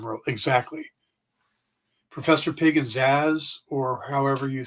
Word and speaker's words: Zsasz: Professor Pig and Zaz, or however you spell it.